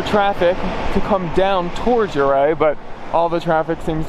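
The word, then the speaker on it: Ouray: Now, from a Coloradan, how do you pronounce this town? Uray or Uray? Uray. Say it like you're gonna stick it in Uray.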